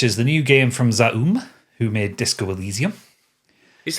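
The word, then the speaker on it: ZA/UM: Which is the new game from Zoom who made Disco Allesium. Is that how we're pronouncing that studio's name? Z. Well, it's Z Aum.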